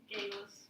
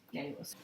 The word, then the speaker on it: Geillis: Aaron, how do you pronounce your character's name? Gayless. Gaillis.